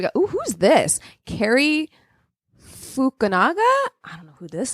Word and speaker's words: Fukunaga: Fukunaga is what it looks like. Fukunaga.